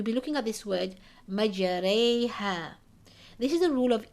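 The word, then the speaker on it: مجريها: But this indicates that the alif or the fatha must be pronounced with a slant towards a kasra. So how do we read this? Majareha.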